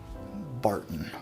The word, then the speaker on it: Barton: 74 corn, 18 rye, 8 malted barley, or where we come from, we like to call it something that rhymes with fartin'. Barton.